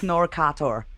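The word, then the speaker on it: Knorkator: in the band name it's called norcator oh jeez i would have never got that but it's so funny to hear americans trying to pronounce it yeah i i blew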